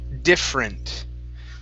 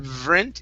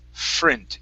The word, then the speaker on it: different: First up, we have the word different. Now here, what we want to do is pronounce the F. Now here you pronounced V sound, saying different. Okay, instead of vrint, it's frint, different.